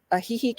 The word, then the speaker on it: Ajijic: go to is ajijic and you actually you spell that a j i j i c and i'm a small town girl so a heihei is is a small town as well it